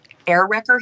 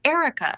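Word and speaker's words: Airwecka: The nurse looks at the chart, squints at the spelling, and mispronounces it immediately. Dr. Smith, we have little air wrecker here to see you. It's Erica, spelled A I R W E C K A.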